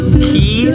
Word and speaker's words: Qui: The name of this band is Key, spelled Q-U-I.